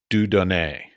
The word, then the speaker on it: Dieu Donné: I guess all right so let's get to dudon did I pronounce it correctly very good yes okay your